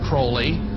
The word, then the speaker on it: Crowley: about with Alistair Crawley he likes to have his name pronounced Crowley to rhyme with holy and the satanists today